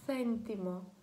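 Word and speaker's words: céntimo: Тут вона читається як Ф, міжзубний звук Ф. В Іспанії такий варіант, в Латинській Америці люди вимовляють його як звичайно С. Тобто сентімо, сентімо. Якщо ви розмовляєте англійською, ви знайомі з цим звуком, тому що це як наш TH, так?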